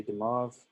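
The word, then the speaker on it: de Moivre: it was Abraham Demave, but it's French, so it's a, I don't even know if it gets that accent. We just say Demave, and so it's some strange pronunciation.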